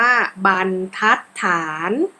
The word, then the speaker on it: บรรทัดฐาน: ว่า วรรณยุค ข้อ 2 คำ ว่า บรรทัดฐาน อ่าน ว่า บันทัดฐาน ข้อ 3 คำ ว่า ธรรมชาติ